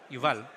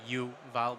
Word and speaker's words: Yuval: For some reason, for English speakers, it's very hard to pronounce it, although it's like starts with the word you. Yeah. Like it's literally Yuval, but yeah, I was saying okay.